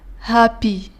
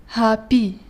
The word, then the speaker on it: happy: في كلمة happy نجد 5 حروف لكن 4 أصوات فقط، لأن الدبل بي هنا لا ننطقهم مرتين بل مرة واحدة فقط ونقول happy happy.